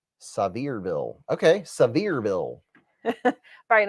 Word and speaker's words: Sevierville: He said Sevierville is pronounced Sevierville.